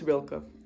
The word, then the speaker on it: Rilke: I know it's Rilke. I know that is correct because the man is German, I believe, if I'm not wrong. I might be wrong, but his last name is pronounced Rilke.